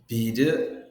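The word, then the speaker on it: ビール: বিরু, বিরু মানে বেয়ার, লম্বা উচ্চারণটা কিন্তু খুবই গুরুত্বপূর্ণ। লং টানটা যদি না হয় এটার উচ্চারণ হয়ে যাবে বিরু মানে বিল্ডিং। আর যখনই আমি এখানে লম্বা উচ্চারণ করব, বিরু মানে বেয়ারকে বলা হচ্ছে।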